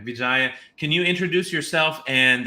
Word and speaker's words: Vijaya: with us and uh Vijaya did I pronounce that correct yes okay Vijaya can you introduce yourself